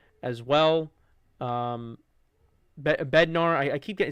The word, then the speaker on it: Bednar: Um you saw Dval, you saw um you know, you saw Bendar as well. Um Bednar, I I keep saying his name wrong.